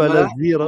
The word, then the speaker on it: Alasira: est-ce qu'on dit Al-Asira ou Al-Azira? Voilà. Au début, j'ai cru qu'on disait Al-Asira, et ensuite, on m'a dit ça s'écrit comme avec un I, mais ça se prononce avec un Z.